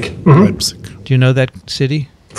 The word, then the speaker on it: Leipzig: And I'm going to, I always pronounce this wrong, Dickson, where am I going? Leipzig? Leipzig. Mm-hmm. Leipzig.